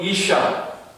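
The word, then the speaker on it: אִשָּׁה: 남자가 히브리어로 이쉬입니다. 이쉬. 여자는 히브리어로 이샤. 그러니까 비슷해요. 발음이 이쉬, 이샤.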